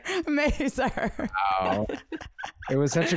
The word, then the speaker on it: Mazur: Mazur.